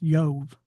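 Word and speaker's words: איוב: Job in Hebrew his name is pronounced Yove with a Y.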